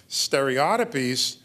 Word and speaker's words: stereotypies: Stereotypies, and that's the British pronunciation. I used to think that was an affectation, but everybody on both sides of the Atlantic pronounce it that way.